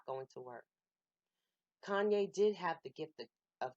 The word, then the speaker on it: Kanye: the his name wrong Kanye told us several times it was pronounced Kanye with a long a but she seemed to screw it up on purpose and would say time ye Tania whatever your name